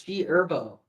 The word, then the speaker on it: G Herbo: The H is silent. It's G Herbo.